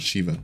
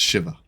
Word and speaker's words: Shiva: certain way right and his name is Shiva to be clear it's not Shiva it's Shiva anyways isn't this guy